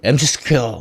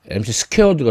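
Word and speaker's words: mc²: 그러면 총 에너지가 운동 에너지 플러스 정지했을 때 갖고 있는 에너지 어 우리 MC스퀘어 뭐 이렇게 얘기하죠. MC 스퀘어드가 정확한 발음인데 아주 대중적인 제일 많이 알려져 있는 공식이죠.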